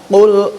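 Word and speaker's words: قل: Nah, pengucapannya hanya meleset ke bawah. Makanlah, bukan ucapkanlah atau katakan. Ini yang perlu kita angkat. Qul huwal.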